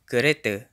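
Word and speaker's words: kereta: Malay pronunciation of caretta caretta final aa is usually pronounced as a schwa in Malay at least in Malaysia a couple more examples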